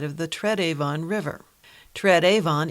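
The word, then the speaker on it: Tred Avon: the tread Avon River Trad Avon is simply the way some Brits at the time pronounced third Haven which was a description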